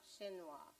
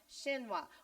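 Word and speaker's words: chinoise: right n-o-i-s-c is y shinwa okay so um spell the word again huh the word again n o i s e so apparently that's pronounced shinwa would you know looking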